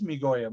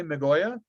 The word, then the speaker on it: Migoya: It is Migoya. Most people say Migoya with a soft I.